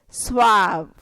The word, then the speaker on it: suave: Next word you can see here is suave. Suave. I have the phonetic written over here. Suave. This is ah. So SW is swa and ah, suave.